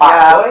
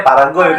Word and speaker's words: Pargoy: Pargoy ya Pargoy. Iya, Pargoy. Fargoy. Cuman Vivi bacanya Paragoy gitu ya.